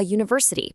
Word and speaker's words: university: We say a university because university starts with a yes sound which is a consonant.